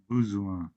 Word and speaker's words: besoin: besoin, besoin, हाँ जी, बेजुआ। What is that? Need. It's besoin Navjot Singh ji, besoin। Okay, बेजुआ। Okay. Replicate that, besoin। besoin, besoin, very good, बहुत अच्छे Navjot Singh. besoin, परम जी आपकी turn आ गई सर, आप